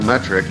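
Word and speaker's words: Methric: My actual last name is Metric. M E T H R I C. But pronounced metric like the metric system.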